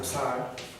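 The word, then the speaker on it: ψ: So you literally pronounce every letter, every letter that's in the word. Kind of like in Spanish. Yes. Yeah. Pronounce every letter that's in the word. There's no silent letters in Greek.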